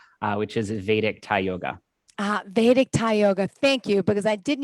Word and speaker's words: Vedic: Vedic Thai Yoga. Thank you, because I did need help with that pronunciation.